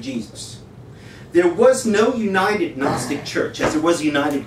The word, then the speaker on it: Gnostic: gnostics here's the everything Gnostic Gospels Group which I'll explain in a moment what are gnostics exactly H and why don't you pronounce the G just Gnostic like that um the gnostics taught